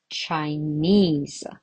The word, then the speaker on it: Chinese: But actually there are only two syllables, right? Chinese. Chinese. There are two syllables, but still on the last one.